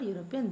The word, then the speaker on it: European: article before the word European, though it has the first alphabet as a vowel. Okay. So because it sounds consonant sound.